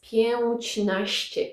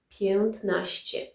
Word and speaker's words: piętnaście: So, if you try to pronounce it, it's pięćnaście, pięćnaście doesn't sound very well. And we change something with this pięć cuz it's not pięć anymore, it's piętnaście.